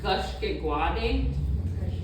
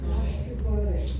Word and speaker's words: Gashkigwaade: How do you pronounce that? Gashkigwaade. Gashkigwaade. Gashkigwaade.